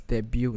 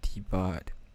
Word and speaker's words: debut: slide ah you need that's debut not debart if you don't know